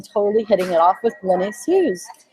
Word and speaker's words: Glenyce: It's Glenyce, not Glenephew.